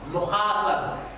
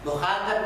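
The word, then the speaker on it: مخاطب: Mim, kha, mukha, and ba, and ba. Mukhatab.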